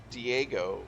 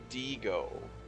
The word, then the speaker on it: Diego: You have to say Diego, so it rhymes with amigo. Diego.